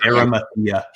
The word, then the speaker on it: Arimathea: Arimathea.